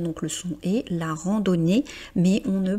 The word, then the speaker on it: randonnée: Ici, on est sur un mot féminin donc mais on ne prononce quand même pas le e.